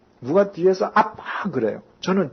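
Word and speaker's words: אבא: 우리 성경은 아바라고 번역이 되어 있는데 유태 발음으로는 실제로 아빠입니다. 우리하고 똑같습니다. 제가 이스라엘에 갔을 때 누가 뒤에서 아빠 그래요.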